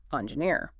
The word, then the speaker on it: engineer: And it's also important to focus on pronouncing the word engineer clearly with the stress falling on that final syllable engineer.